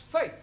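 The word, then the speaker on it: fête: to the e now the letter e is usually pronounced a bet set get there are of course exceptions to the rule for example f e t e is also pronounced faith moving on to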